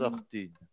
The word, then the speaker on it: Artin: Ça se prononce, ça s'écrit Artin, mais ça se prononce Artine.